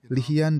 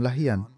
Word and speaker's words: Lahyan: disebut perang Banu lahyan nama ini muncul dalam dua pengucapan lihyan dan lahyan Banu lahyan adalah cabang